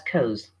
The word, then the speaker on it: because: Because is pronounced as cause. Maybe he's jealous because she's cause, not because. So the B is dropped out or missed out.